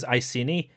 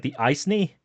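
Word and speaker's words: Iceni: Uh I keep I I pronounce asini, but there was a time in my life where I pronounced him as the as like the icy.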